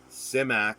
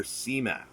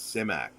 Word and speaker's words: Simak: name clifford d simak simak is the correct pronunciation but nine times out of ten or well maybe not that high i'll say i'll hear cmac it's not cmak it's simac that's how he pronounced it his ancestors uh